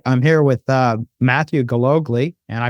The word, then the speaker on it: Gillogly: Google all right I'm here with uh Matthew Google and I pronounced that correctly did I not yes you